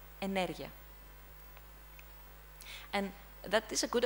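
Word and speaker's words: ενέργεια: The correct stress is on energia.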